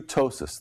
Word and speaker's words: ptosis: This is a woman who has true ptosis, that's spelled with a P, P-T-O-S-I-S.